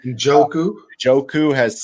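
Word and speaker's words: Njoku: a contract we'll talk about that um David majouk ooh-hoo I probably said his name wrong Joe ku Joe ku has said that we love him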